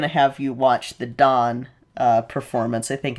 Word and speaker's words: Dan: You'll see I think I'm going to have you watch the Dawn uh performance. I think it's Dawn and not Dan. It's spelled Dan, but I think it's pronounced Dawn.